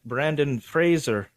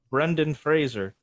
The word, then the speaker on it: Brendan Fraser: was The Mummy Ben Brandon Fraser Brendan Fraser either they get the first name or the last name wrong right Brandon Frazier oh God yeah sorry